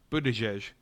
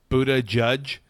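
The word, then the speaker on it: Buttigieg: you were right about Buddha jesh okay I think by the way his name is supposed to be pronounced Buddha judge buddy that's like what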